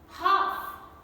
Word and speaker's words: half: talk lk combination then cough half a lf combination then salmon not salmon